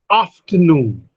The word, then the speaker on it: afternoon: Afternoon. Primary stress is on afternoon, noon. Noon, the stress is on noon.